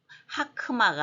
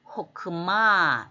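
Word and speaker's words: חכמה: 또 하나의 예로서 글자대로 읽는다면 뒤에 있는 초록색 하크만데 그렇게 하면 안 되죠. 역시 하 다음에 크 자음이 와서 한음절이 닫히고 마의 액센트가 있기 때문에 하크마가 아니고 호크마 지혜라는 뜻이죠. 유명한 두 단어 발음을 조심하고요.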